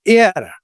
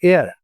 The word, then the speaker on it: heir: And air, H is silent, air.